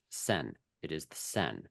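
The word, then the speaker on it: Seine: going to add the river in Paris is pronounced sen it is the sen it's not the cyan it's not the Cen it's sen French really get upset I understand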